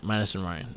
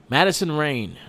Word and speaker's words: Madison Rayne: Oh shit, I got her name wrong. My fault. Madison Rayne.